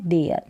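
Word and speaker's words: there: फिर है थिंक या दे में टी एच को द पढ़ा जा रहा है ये थिंक में थ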